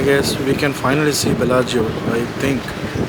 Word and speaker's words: Bellagio: It's pronounced Bellagio. Bellagio. The captain, the ferry, pronounced it like Bellagio, right?